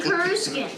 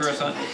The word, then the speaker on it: Coruscant: Is we always, I'm used to saying Kuruskin, All right. not Kuruskin. Coruscant.